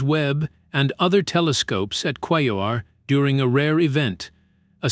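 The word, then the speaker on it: Quaoar: Quayor, pronounced qualar, is a substantial dwarf planet about half the size of Pluto, discovered in 2002.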